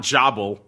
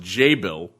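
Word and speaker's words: Jabil: This is, as I was corrected on last show by our keen-eared listeners, not Jobble, even though that's how it looks. It's apparently pronounced J-Bill.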